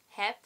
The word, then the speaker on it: heb: You might have noticed I pronounced the b like a p. That's what we do here in the Netherlands. We pronounce b's at the end of words like peas.